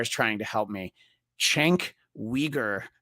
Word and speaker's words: Cenk Uygur: Cenk Uygur, not the way it's spelled.